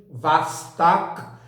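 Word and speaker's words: Восток: nova espaçonave vostok 1 em russo pronuncia-se mais ou menos assim vaz tá né é o ó ele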